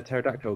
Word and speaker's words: pterodactyl: Why can't you hear when a pterodactyl goes to the toilet? I don't know. The pee is silent.